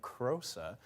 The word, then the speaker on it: Krosa: This would be Typhoon Krosa, as it's pronounced.